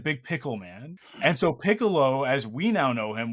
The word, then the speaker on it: Piccolo: we spell it and the way that we say it is like Piccolo, like the instrument. But King Piccolo is King Pickle. That's his name in Japanese, right?